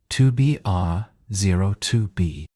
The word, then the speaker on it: 2BR02B: The zero in the telephone number he pronounced not. The number was 2BR02B.